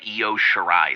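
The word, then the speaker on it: Io Shirai: for forever now but her name is goddamn EO shirai it's not that hard and just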